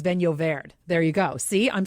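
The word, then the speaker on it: Vinho Verde: how to properly pronounce vino verde because i was calling it i can't remember how i was calling it what was i calling it vino verde vino verde but it's venovaired there you go see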